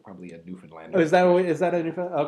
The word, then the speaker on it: Newfoundland: We had a discussion before the show that it's actually Newfoundland. Very good, Newfoundland. Newfoundland. Yes, this whole long conversation about how to pronounce the names of our provinces.